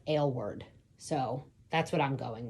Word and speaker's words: Aylward: And it the way it made it sound was like ale word.